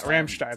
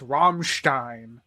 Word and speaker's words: Rammstein: normal person who is in German it's Ramstein if you talk to people who are weird they say it's ramsheim you have to say Ramstein uh you can go